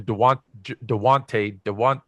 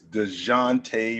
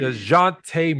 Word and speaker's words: Dejounte: I call him Dewante, but will you say his name right? Say his name right. Tell me. It's DeJounte Murray. DeJounte Murray.